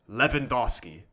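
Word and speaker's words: Lewandowski: the chat the shot the W in the start is pronounced like a V levandoski I feel like that's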